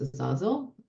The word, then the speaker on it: Azazel: But the one that I love to write about is Azazel. That's how I will pronounce it, because he's just so Azazel.